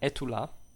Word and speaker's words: Estula: Some stories feature puns, such as in Etula, where a man, so it's spelled Estula, right? You know, and a man calls out his dog Etula, which of course in French also means "Are you there?"